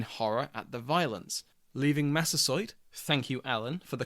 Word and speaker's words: Massasoit: neighbours retreated in horror at the violence, leaving Massasoit, thank you Alan for the correct pronunciation, and the Pilgrims to themselves.